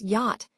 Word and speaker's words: yacht: And then there's yacht, which is a large, expensive boat. Here, the silent ch might seem confusing at first, but understanding